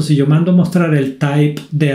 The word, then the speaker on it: type: En este caso, el método type, se pronuncia type, no type, sirve para mostrarme el tipo de dato de la variable.